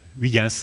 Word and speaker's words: Huygens: par le physicien hollandais Huygens, enfin prononcé à la française, parce que son nom je n'arrive pas à le prononcer à la hollandaise.